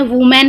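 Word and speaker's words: women: next में वुमेन है, पहले वाले में वुमेन है, WIMEN सिंगुलर है तो इज, नेक्स्ट वाले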